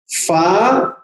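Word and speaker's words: فاء: Lips letters में एक letter है फा, और फा किस तरह प्रोनाउंस होता है? Pronounced from the edge of the upper front teeth and the wet part of the lower lip.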